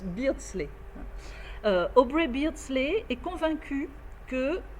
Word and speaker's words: Beardsley: au breakdance les bentley il faut que je pense à dire beasley ça se prononce beardsley aubrey beardsley est convaincu